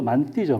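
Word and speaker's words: mantı: 그래서 터키 같은 데는 발음도 만띠죠, 만띠.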